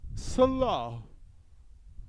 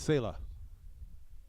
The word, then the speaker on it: Salah: If we say it like, it's like Hebrew. Salah. But it's Salah.